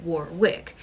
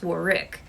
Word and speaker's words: Warwick: pronounce work davis because apparently i pronounced it warwick but it's war rick so i apologize to